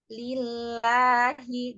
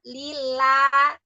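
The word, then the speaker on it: لله: mau memasukkan makanan aja lillahi jadi jangan lillahak enggak terlalu lebarb lagu sajaulangan I jadi catatannya kalau pengucapan mak eh huruf yang berharakat fathah itu rahang tidak boleh terlalu lebar ya Heeh I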